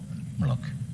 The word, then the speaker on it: Moloch: I don't know how it is pronounced, Moloch or Moloch? Moloch.